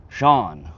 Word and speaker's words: Sean: Good also have weird spelled name, it's pronounced Sean.